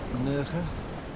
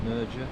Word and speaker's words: Nerja: And this is called Nerja, or Nerja as it's spelt.